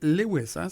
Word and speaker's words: Lewis: vais pas me tromper c'est Lewis on le prononce comme ça parf bon j'ai la